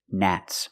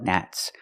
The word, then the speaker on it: gnats: Nats. More than one. I don't like gnats.